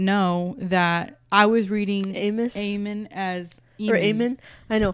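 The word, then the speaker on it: Eamon: It's spelled It's spelled E A M O N.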